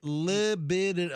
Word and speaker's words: libidinous: Is it? Oh, libidinous. Yeah, you added a syllable in there. Did I? think. Okay. I don't know if I'm saying it right, but that's certainly not the way you said it. Okay, libidinous. Okay, then the last category is libidinous. Yeah. Like libido.